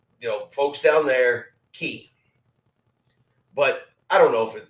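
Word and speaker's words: Cay: know folks down there key but I don't know if you know anybody gets too upset if you say it wrong but I've always understood it to actually be pronounced key k-e-y I've said it both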